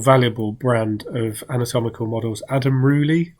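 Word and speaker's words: Adam Rouilly: brand of anatomical models, Adam Rooley, I think is how you say it. It's Rouilly, and they can sell for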